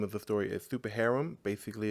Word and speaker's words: Super Harem: Been following your Super Harem. Is that how you pronounce it?